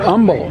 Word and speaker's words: Humble: But umble. Um you don't pronounce the h.